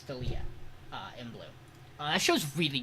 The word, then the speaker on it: Dahlia: I I might have said her name wrong. Dalia. It's Dalia, in blue.